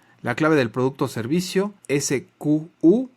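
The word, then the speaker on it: SKU: ver vamos a comentar el sq que normalmente se pronuncia Excuse porque son sus siglas en inglés se usa normalmente por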